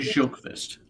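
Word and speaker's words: Sjökvist: I think she pronounced it Sjokvist. Like Sjokvist.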